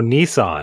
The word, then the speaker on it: Nissan: type of car oh Nissan Nissan is how they pronounce it in uh England yeah listen okay what's what's the slight oh the Sill 80.